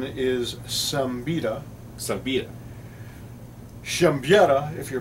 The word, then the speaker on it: Siembieda: pronounced all right so it's polish the American pronunciation is some betta Subbiah jump yatta if you're polish okay I